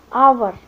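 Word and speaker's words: hour: इसी तरह एन आवर, तो इसमें एच है लेकिन वो एच साइलेंट है और इसमें जो साउंड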